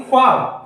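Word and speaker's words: ख़्वाब: क्या होगा यानी की ख में झंकार उत्पन्न होगी ख्वाब इस तरह से बोलेंगे तो इसका उच्चारण क्या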